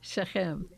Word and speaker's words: Shechem: on the last syllable. Yeah. Shechem.